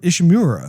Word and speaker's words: Ishimura: Like he was assigned to this mission in order to get the Ishimura. I always say that wrong. Am I saying it right? Ishimura? Ishimura.